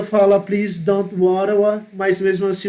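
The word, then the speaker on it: Ottawa: lá foram até mesmo eu falo ou tava né o tal é a capital do canadá mas o certo da pronúncia é hora lá e essa cidade tem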